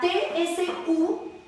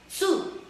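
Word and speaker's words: つ: La TSU, que en este caso no la tenemos en el español, pero es muy fácil pronunciarla, es tsu. Suena una pequeña T de tomate al principio y luego dices SU, tsu.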